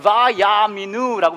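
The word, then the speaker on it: ויאמינו: 이렇게 읽어요. 바야미누라고 읽어요. 이게 어떤 말인지 아세요?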